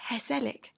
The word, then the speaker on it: Hesellic: It's the phonetic pronunciation of a word that if you looked